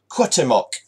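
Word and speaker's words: Cuauhtémoc: It is The Lost Treasure of how do I pronounce this? Cuauhtemoc. And I know that pronunciation because on Wikipedia you can get pronunciations of words and listen to the sounds of it.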